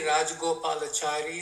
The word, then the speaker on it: Rajagopalachari: Uh Shri C It Go- Gopi, can you can you unmute and pronounce that for us. See uh Rajagopal. Yeah, it's uh C. Rajagopalachari who was a senior statesman in India.